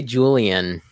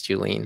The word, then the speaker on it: Julien: a difficult one yeah most people say julian but it's not that's not right it's julene yeah yeah yeah kudos